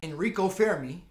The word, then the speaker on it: Enrico Fermi: Enrico Fermi. That's how they say it back in Italy back in the day.